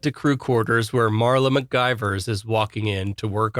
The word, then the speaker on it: McGivers: of course he does he's like uh he's like spoka what's her name what's her name um mcgivers and spot corrects him and says it's macgyvers sure enough cut to